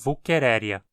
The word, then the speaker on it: Wuchereria: Como o nome do gênero é baseado numa palavra alemã, a pronúncia adequada do nome para falantes de português é Wuchereria.